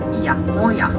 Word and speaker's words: Oia: This settlement is called Oia, O-I-A, as we spell it.